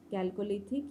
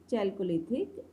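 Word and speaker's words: Chalcolithic: तो दोनों जो वर्ड हैं प्रोनाउंसिएशन के, आप किसी भी टाइप से इसे प्रोनाउंस कर सकते हैं, कैल्कोलिथिक या चैल्कोलिथिक एज.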